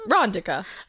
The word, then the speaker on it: Rondika: The I is a short I sound as in dick, not a long E sound as in fleek. So it's Rondika.